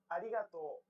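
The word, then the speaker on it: ありがとう: i will pronounce it to pronounce this sound lightly tap the gum ridge behind your upper don't roll your tongue like an english r most of the air should go around the sides of your tongue the same way it would when pronouncing an l sound this is why many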